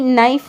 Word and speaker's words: knife: Knee, knife, not now. Here K is silent.